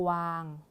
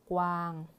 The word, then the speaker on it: กวาง: นะ คะ อ่าน ว่า กวาง กวาง สังเกต ได้ ว่า การ อ่าน ออก เสียง คำ ควบ กล้ำ แท้ นะ คะ เรา จะ อ่าน พยัญชนะ ต้น 2 ตัว แรก นี้ นะ คะ พยัญชนะ ต้น